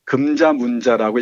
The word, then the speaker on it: 금자문자: 일본식 발음으로 가네코 후미코를 하는데 정작 자신은 금자문자라고 읽어달라고 했답니다.